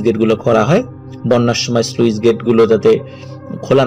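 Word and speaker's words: sluice gate: অনেকে আমরা উচ্চারণ সুইস গেট বলি। তো এটা মূলত স্লুইস গেট।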